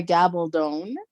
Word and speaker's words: Gabaldon: called Outlander by Diana gabone uh she always said that her name rhymes with stone uh but it's the